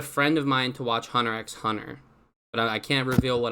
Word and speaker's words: Hunter x Hunter: of mine to watch Hunter x Hunter but I can't reveal what I'm doing I gotta you gotta know though man the x is silent oh no I see